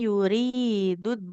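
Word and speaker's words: يريد: Untuk bacaannya di sini tadi sedikit man yuridud dunya. Nah, huruf ro-nya harus kita baca panjang ya, karena ro Ya, kasur ro ketemu ya. Sama ya. kalau ada nun sukun ketemu ya itu harus ditahan dulu ya.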